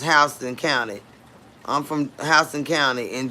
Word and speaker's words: Houston: We pronounce it Hston County, but it's spelled just like Houston, Texas, but it's pronounced Hston County.